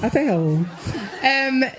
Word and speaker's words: Adele: In case you didn't get that because the audio is a bit noisy, Adele pronounced her name properly again when she hosted Saturday Night Live and appeared in a skit spoofing The Bachelor.